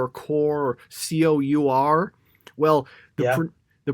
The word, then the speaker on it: cour: It looks to me like the pronunciation is cur, as in like rhyming with a pure, basically. That okay. or lure.